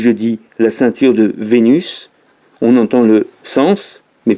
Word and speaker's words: Vénus: on sait pas 1 ça rime avec cornu mais nous de nos jours on va prononcer le s pour savoir que nous parlons de vénus la déesse un an voilà par